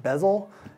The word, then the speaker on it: BZL: So it's called BZL, or pronounced bezel.